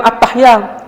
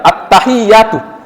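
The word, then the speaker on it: التحيات: Jadi sebenarnya di situ bukan attahyat tapi attahi ya hana. Dan itulah yang diucapkan Nabi ketika bertemu dengan Allah ya attahiyatu.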